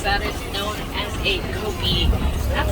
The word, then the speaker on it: kopje: is known as a kopje. That's spelled K-O-P-J-E. Not at all how I would think to spell the word kopje.